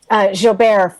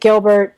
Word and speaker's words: Gilbert: Everyone can reach me at, and my last name actually is Gilbert, pronounced in the French. But it's so funny. Half of the family pronounces it Gilbert, and then I prefer the French pronunciation.